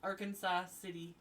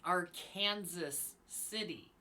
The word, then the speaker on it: Arkansas City: Kanas pronounce it as our Kansas City but everyone else outside of Kansas pronounces the name Arkansas city so I was getting